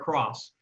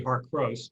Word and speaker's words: Harcos: a pronunciation sorry but it's like cross our cross uh even though it looks like it should be heart gross because there's only one